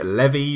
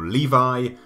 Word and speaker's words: Levi: then we have a Zachary levy or Levi whatever you want to say his name he has been